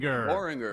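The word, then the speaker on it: Boehringer: Boringer.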